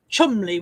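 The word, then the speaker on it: Cholmondeley: It's going to turn out to be one of those really posh names like Chumley, which is spelt Cholmondley, isn't it?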